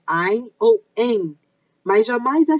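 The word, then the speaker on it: Áine: pessoas dizendo, a deusa Aine. Não é Aine, é Ain, tem um acento aí, tem uma sílaba forte aí.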